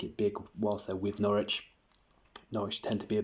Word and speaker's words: Norwich: So I'm going to talk to you about Norwich and I'm also going to run through Manchester City as well. Norwich, often referred to as Norwich, by US cousins. It's actually pronounced Norwich.